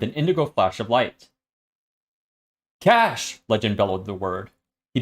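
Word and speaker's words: Cache: picture uh fyi um up to this point taylor thought cash was spelled with c-a-s-h c-a-s-h but she realized oh it's actually cash the like the memory cash yeah yeah like the computer thing you're all gonna die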